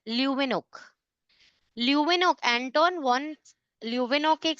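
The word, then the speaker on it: Leeuwenhoek: ल्यूवेनोक H silent ल्यूवेनोक ल्यूवेनोक Anton one ल्यूवेनोक एक scientist थे जिन्होंने प्रोटोजोआ ऑब्जर्व किया था, डिस्कवर किया था और बैक्टीरिया को भी ऑब्जर्व किया।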